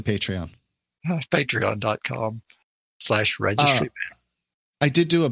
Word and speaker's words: Patreon: Is that the way you pronounce it? It is not. It's totally Patreon.